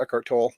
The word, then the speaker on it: Eckhart Tolle: In the video, Eckhart Tolle also mentioned, or Eckhart Tolle is actually the right way to pronounce it, but he had mentioned Ramana Maharshi, and so I read a book of Ramana Maharshi.